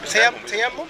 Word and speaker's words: tayammum: So what the scholars said, there's something called tayammum. Can you pronounce it for me? Tayammum?